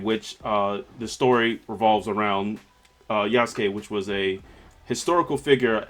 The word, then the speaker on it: Yasuke: The other, the other black representation I would like to talk about is I keep on pronouncing this wrong. Is it Yasuke? Yasuke, yes, Yasuke.